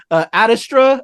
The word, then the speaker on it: Ad Astra: Adastra, am I pronouncing right? Adastra? Yeah, Ad Astra, it's from the Latin phrase to the stars through perseverance.